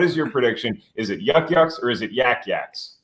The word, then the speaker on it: Yuk Yuk's: say like if for Boston people you could spell it why a wk but like York York but the term is Yuk Yuk's so your friend is in fact Yuk Yuk's